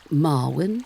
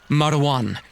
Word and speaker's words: Marwan: This must be Marwin. Is that how you pronounce it? I was in Egypt years ago. It's Marwan. It's a difficult name.